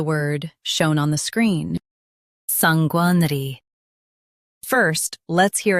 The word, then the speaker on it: sanguinary: Sanguinary. Stress sang and keep ner light. Sanguinary, sanguinary.